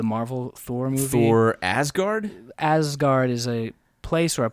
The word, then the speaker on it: Asgard: was pronouncing it ASS Guard. And they got in my ear and they're like, that's not what that is.